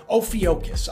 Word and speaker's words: Ophiuchus: Ophiuchus, I believe that's the way you pronounce it.